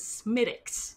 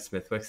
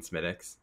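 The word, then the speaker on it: Smithwick's: Which is spelled Smithwicks. But for anyone out there who does not know how to pronounce Irish words, my Irish roommate tells me it is Smittix. Because when I was in Ireland, I was like, can I have Smithwicks? And they're like, you mean Smittix?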